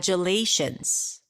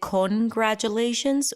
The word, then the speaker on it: congratulations: about the first syllable is it congratulations or can we reduce it to KRA yes we can yes we can so it's awah K what about the next